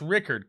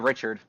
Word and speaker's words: Rickard: At least you acknowledge that there is a K. I had a lot of teachers that said Richard.